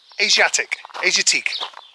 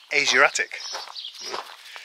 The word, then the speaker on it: Asiatique: Went to Asiatique. Well, the bloke who owns it says it's pronounced Asiatic.